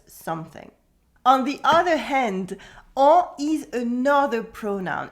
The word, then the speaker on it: en: On the other hand, en is another pronoun. It is pronounced en, the French nasal vowel.